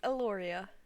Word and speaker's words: Alloria: It's Alloria. Think uh think Allora Denon from Yeah.